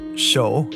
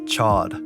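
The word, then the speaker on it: Chaud: ways to say this it's spelled c-h-a-u-d it's supposed to sound like show but in the show his name is pronounced as Chad I know it sounds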